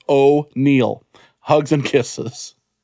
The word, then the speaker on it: O'Neill: ram check how does this affect extending o'neill pronounced oh neil hugs and kisses and we already